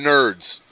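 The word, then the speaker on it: Knerds: No, that's OGK nerds. Nerds with the K. Nerds is spelled with an N. K is silent. Like night.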